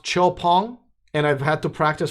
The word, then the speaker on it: XPENG: Okay, this company, and it's spelled XPENG, and I'll have a separate video about them as well. It's a Chinese-based company. It's pronounced Chopong, and I've had to practice for a while.